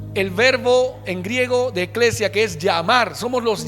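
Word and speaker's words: ἐκκλησία: iglesia veámoslo en griego en griego iglesia se pronuncia eclesia y se escribe así e k k l e s i A eclesia qué significa asamblea o convocación y proviene del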